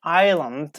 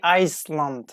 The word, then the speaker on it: island: as diverse for example we don't say Iceland ok I slumped no island island if you see I as an L together like we pronounced like Isle Isle Island Isle ok in the